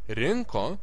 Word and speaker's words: rinko: stress is on prefix rinko has the same stress as the infinitive it doesn't matter if it has a prefix or not it is always stressed on in n again the consonant is stressed the most rinko parinko parinko surinko